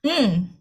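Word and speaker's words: ㅇ: Tapi kalau dia hurufnya di akhir atau posisinya di akhir jadi ng eng.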